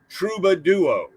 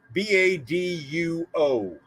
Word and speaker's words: Troubaduo: Troubadua, as in Troubadour, as in Troubadour Duo. Troubaduo. So Troubaduo.